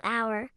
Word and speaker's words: hour: The same logic applies to hour. The H is silent, and it starts with an OW sound, so it's an hour late.